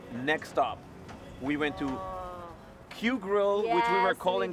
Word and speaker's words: Kyu Grill: We went to Q Grill, yes, which we were calling Cayo Grill, and KYU Grill.